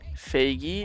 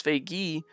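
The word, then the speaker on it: Feigi: And if it's Faggy, just type like. Just for pronunciation purposes. For spelling, I'll spell it F-E-I-G-I.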